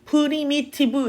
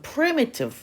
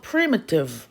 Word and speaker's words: primitive: primitive 단어야 primitive 자 근데 여기에 프라는 여기에 강세가 있어 그래서 프리를 되게 세게 강 발음을 했기 때문에 자연스럽게 그 뒤에 미라는 발음은 프리미티브 우리나라 말처럼 모든 글자에 강세를 주지 않거든 영어는 그래서 프리미티브 이렇게 가는게 아니라 프리가